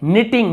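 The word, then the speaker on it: knitting: अब देखिए निटिंग, निटिंग यानी बुनना, जो ऊन बुनते हैं ना ऐसे स्वेटर वगैरह, उसे निटिंग कहते हैं। के साइलेंट है।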